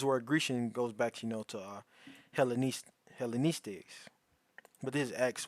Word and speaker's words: Hellenistes: Strong's G 1675, Hellenistes. Hellenistes.